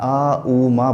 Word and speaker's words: ओम: ओम नहीं बोलना है, आ ऊ मा बोलना है।